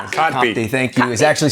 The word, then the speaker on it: Kotb: Kotb.